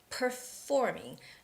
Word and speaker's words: performing: in the beginning and there's the F sound in the middle, so it's a little bit hard for Asians, for most Koreans and Japanese people to make the right pronunciation for this word. So it's performing. Notice how I start my lips by putting them together like p, and then it's performing.